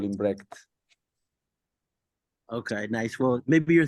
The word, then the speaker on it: Brecht: I'm not even gonna try to pronounce his name, so could you give us how the pronunciation of No Brecht? idea. Brecht.